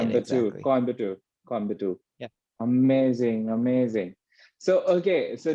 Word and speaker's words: Coimbatore: Coimbatore.